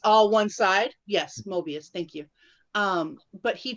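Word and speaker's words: Möbius: through um i would never say it right mavis mavis time m-o-i-b-u-s where it's the strip that goes back on each other and it's all one side yes mobius thank you um but he travels through that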